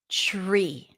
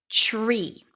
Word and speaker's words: tree: haven't focused on it when the T appears before an R the T becomes a CH sound as in chicken tree tree train training trust